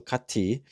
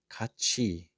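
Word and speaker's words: 같이: Uh so kati is what my AI announcement says in my apartment. Kati kao. Yeah. Don't be AI cuz you'd be incorrect. So here Koreans do this pronunciation kachi. Kachi another word for value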